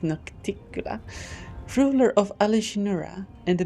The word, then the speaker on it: Nocticula: It's pronounced Nocticula, ruler of Alishinura and the Midnight Isles, a powerful demon lord, and the one they call her Lady in Shadow.